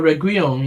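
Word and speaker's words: Reguilón: Regulon is the... Regulon, is that how you pronounce it? Who? Regulon, that left back guy. Oh, Reguilon, yeah. Reguilon, that's it.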